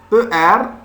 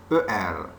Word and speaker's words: er: Et comme vous voyez, ER, je prononce comme A. ER.